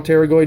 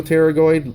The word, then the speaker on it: pterygoid: two cavities so lateral pterygoid medial pterygoid medial pterygoid lateral pterygoid notice that p is silent it's not paranoid even